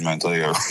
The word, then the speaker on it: Manteo: It's like Maneo. Manteo. Okay, Don't Manteo. pronounce the T. You. Forget about That's that easy. T. I can tell when I was like Manteo. There we go. Manteo. Forget the T.